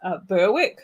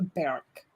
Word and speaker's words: Berwick: It's a Berwick. Oh. It's just like, I'm sorry, I'm pronouncing it in the Western Get it right. Cha. They're like, you don't pronounce the W, and it's like, well, why is it there?